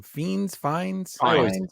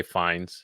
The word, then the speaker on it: Fiennes: I don't know how to pronounce his name. Fiennes. I always say Fiennes.